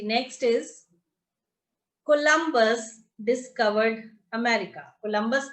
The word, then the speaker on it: Columbus: Ma'am ma'am जे तुसी word बोलिया COLUMBUS, ma'am ओदी प्रोनाउंसिएशन की है? बच्चे this is कोलंबस। कोलंबस इज a name.